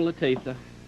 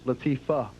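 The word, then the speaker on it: Latifah: say but is La what did I say latia it is Latifa okay you wish it was you wish it was Latifa don't you you know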